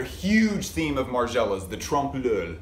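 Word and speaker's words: trompe-l'œil: theme of margella's the trump lul i usually try to find some kind of happy balance between the french pronunciation and the english pronunciation and it's really hard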